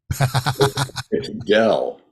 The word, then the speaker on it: Doell: good Jimmy I me interrupt is when you pronounce my name correctly Dell Dell thank you okay so Dell and